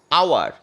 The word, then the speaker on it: hour: আওয়ার, HOUR, এইচ দিয়ে শুরু কিন্তু উচ্চারণটা অ থেকে, তাই এটা ভাওয়েল সাউন্ড, তাই এক্ষেত্রে অ্যান আওয়ার।